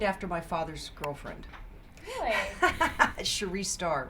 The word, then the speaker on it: Cherie: It is pronounced Cherie, though. Cherie, I'm so sorry. That's not a problem. Start that over. That's okay, because I've been called Cherry, but it is Cherie.